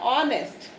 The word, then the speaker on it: honest: यहाँ पर हमारे पास H जो था वो साइलेंट है, तो हमारा वर्ड बन रहा है ऑनेस्ट। ठीक है, ऑनेस्ट, तो इसमें हमारी साउंड आ रही है ओ, ओ से वर्ड स्टार्ट हो रहा है, यानी ओ की साउंड